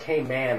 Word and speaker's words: Cayman: Now, if you're down in the island, on the island, it's Cayman. It should be pronounced Cayman Islands, okay? And with Cayman as really the syllable to hit.